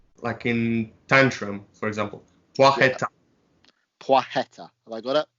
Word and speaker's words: Placheta: from Norfolk, it's kind of the worst thing pronunciation. So how do we get his name right? so yeah, his surname is Placheta, Poix, like in French, Poix, like Poitiers.